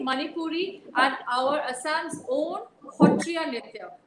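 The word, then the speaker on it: Sattriya: and our Assam's own Hotriya Nitya, which is spelled as Satriya, Satriya, but it's pronounced as Hotriya.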